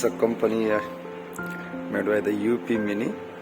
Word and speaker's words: UP mini: company made by the up mini yeah you can pronounce it as an op mini and it is very